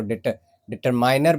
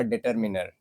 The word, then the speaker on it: determiner: कुछ लोग इसको डिटरमाइनर बोलते हैं लेकिन डिटरमाइनर नहीं। इसका जो सही प्रोनाउंसिएशन होगा वो होगा डिटरमिनर।